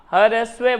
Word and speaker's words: ह्रस्व: र आधा रे भी आता है नीचे अपन बोलते हैं ह्रस्व रे बोलते ही नहीं है क्योंकि उच्चारण साइलेंट होता है हां ह्रस्व बोलते हैं हां तो ज्यादा समय